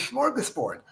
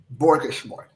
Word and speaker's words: smorgasbord: I know the word is smorgasbord. I don't want everyone in the world to think that I don't know the real word, right? So he sat down with a yellow pad of paper and put down about 30 different mispronunciations of the word smorgasbord. And I picked borgasmord.